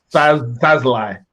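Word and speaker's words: Szalai: It's Sazlai.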